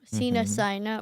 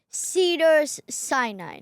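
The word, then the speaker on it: Cedars-Sinai: Sina hospital but here they have Cedar Cider Cena Sina right I said it wrong. Okay. Um let me say it again. Cena Sina Cedars Si Cedars Sinai.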